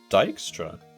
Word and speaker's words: Dijkstra: side of town okay wiki says it's dykstra what am i thinking of oh the witcher in the witcher 3 he pronounces it dikstra because he's a very important character that's why i just automatically assumed that's how you pronounce it because i've never really heard it said out loud i mean i suppose both are correct i'm sure i've heard